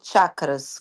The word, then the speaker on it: chakras: Pronuncia-se chakras como tchau, que controlam esses campos de energia ondulantes.